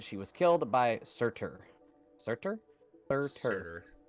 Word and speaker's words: Surtur: Surtur?